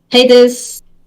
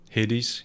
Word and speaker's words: Hades: still have to try haters is that how you say it hades yeah a greek god there we go uh